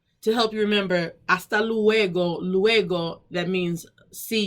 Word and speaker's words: hasta: silenciosa no se pronuncia it has a purpose but we do not pronounce the h try to write that